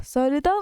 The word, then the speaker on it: संहिता: सहलिता means होता है सही लता, इट मीन्स सही लता, just mean the pronunciation is सही लता।